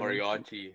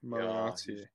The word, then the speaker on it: Moriarty: Moriarty. Moriarty. Yeah, just Moriarty.